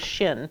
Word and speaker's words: shin: I've underlined it here the sound of the word shin is Shh so the name of the letter is shin but sound of the letter is Shh and that's important and